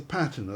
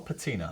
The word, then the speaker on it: patina: it patina or patina? I mean... Patina. Patina, Patina is tomato. usual, but when anyone accuses me of mispronouncing anything, I say, yes, you're quite right, it's a rather archaic pronunciation.